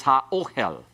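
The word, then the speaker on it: הָאֹהֶל: And it's an aleph, it'll refuse doubling, therefore the tent is ha-ohel.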